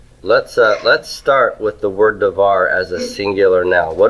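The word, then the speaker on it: דבר: Okay, the first syllable or the second syllable, which of these is the stressed syllable? Second. The second one. Why did you stress the second one? Default. Yeah, that's default stress.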